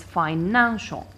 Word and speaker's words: financial: Then you have fi-nang-sho. Fi-nang-sho. I count 1, 2, 3. It ends with a, which is here. I stress the second syllable counting from the end, which is this one, and it is financial. Financial.